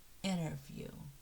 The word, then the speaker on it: interview: But we normally don't stress the T after an N. So we say interview. It sounds as interview.